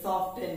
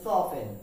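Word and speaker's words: soften: ই এন আমরা এটাকে সফটেন বলি কি বলি সফটেন কিন্তু এর উচ্চারণ হচ্ছে সফেন উচ্চারণ কি সফটেন তার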